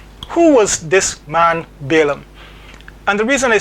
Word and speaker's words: Balaam: by the name of Balum. Now you might hear his name pronounced in a number of different ways. You might hear Balam or something else.